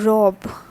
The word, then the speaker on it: robe: is the butterflies all right next is la robb la robe so what is this rob that is actually